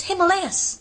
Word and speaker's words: Himalayas: it and been like, that's not the way you pronounce it, it's Himalayas.